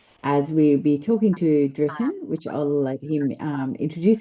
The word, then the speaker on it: Driton: Uh so as was said, Dritan is my name. Drayton is usually English uh pronunciation, but the real pronunciation is Dritan, d r i t o n.